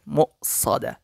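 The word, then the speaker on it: مُؤْصَدَة: عمد ممددة ইন্নাহা আলাইহিম মুসাদা এই জায়গায় ওয়াও রয়েছে হামজাও রয়েছে তবে প্রাধান্য হবে ওয়াওয়ের উপর হামজা রয়েছে সেটাই মিম হামজা পেশ মু হবে এরকম মু উচ্চারণটা হবে অবশ্যই খেয়াল করবেন মুসাদা বিসমিল্লাহির রহমানির রহিম ألم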